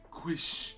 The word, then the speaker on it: quiche: Quish.